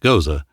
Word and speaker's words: Gose: Gose, pronounced Gose, is a unique and historical style beer with a fascinating origin story that dates back over 1,000 years.